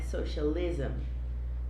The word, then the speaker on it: socialism: As palavras terminadas com ISM no inglês são pronunciadas ism, né? Socialism, feminism, né?